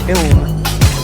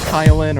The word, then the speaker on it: Kiln: helis second location Kiln I know we've had some uh mispronunciations of that location previous tournament but it is indeed ilm not kylin or anything else like that and Roy going down